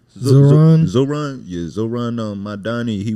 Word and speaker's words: Zohran: How do you pronounce his first name? Zohran.